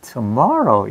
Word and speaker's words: tomorrow: 나는 tomorrow 이러는데 미국 사람들은 tomorrow 이렇게 해요. tomorrow. 근데 그 말 특징이, 그 사람들은 트를 갖다가 세게 발음하지 않나. 트를 거의 더로 발음을 해요.